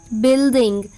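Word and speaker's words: building: बी यू आई एल डी आई एन जी बिल्डिंग आर ओ जी यू ई रोग टी ओ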